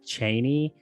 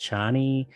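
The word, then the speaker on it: Chani: never remember her name i always pronounced it cheney but i've heard it in other mediums pronounced johnny in my head when i read the books i always said cheney i don't i guess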